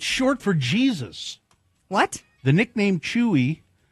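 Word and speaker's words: Jesús: The name Jesus in Spanish, the name Jesus is pronounced Jesus.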